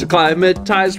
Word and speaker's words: acclimatized: It's acclimatized, which is weird because we pronounced the other version acclimated.